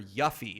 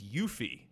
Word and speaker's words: Yuffie: the Final Fantasy retrospective I called her yuffie and it's yuffie funny people were people